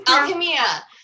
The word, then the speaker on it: Alchemia: How do you Alchemia.